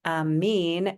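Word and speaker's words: آمين: And amin is the pronunciation in Arabic and also in Persian.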